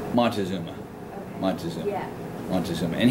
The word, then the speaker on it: Montezuma: I don't know how to pronounce the name. It's Montezuma.